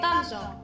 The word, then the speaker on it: Tangier: in Morocco we say Tangier.